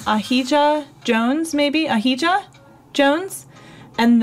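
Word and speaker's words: Ahijah: Yeah, spell that out for me in a way that it's pronounced Aja. Okay, see, like, I want to keep getting the I in there. But it doesn't have any sound there, so sorry about that.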